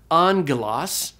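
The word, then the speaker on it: ἄγγελος: was the Greek word for Angel which is Angelas you have that gamonal there the Greek word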